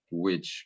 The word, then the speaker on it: which: Which, Ah, sí, es que which suena más como bruja en sí, inglés. sí. Entonces, which Sí. es como, es un sonido que no existe en español, pero es como suave, es como which.